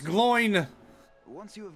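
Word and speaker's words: Glóin: Glowin is his name, and he is skilled in the appraisal of gems. Pronounced Gloin.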